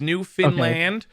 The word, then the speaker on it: Newfoundland: we're not we're not we're not new found land the way everybody says it is new finland new finland or new finland we have nothing to